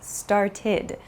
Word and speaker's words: started: So for example, start becomes started. It has an ID sound.